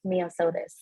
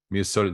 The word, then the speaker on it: Mia Sotis: So you can call me Mia, but the name is pronounced Mia Sotis. Mia Sotis, that is gorgeous.